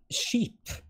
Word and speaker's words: skip: But the thing is that the I is pronounced like the English E. So yes. It would sheep. Sheep. It's exactly the same pronunciation as sheep.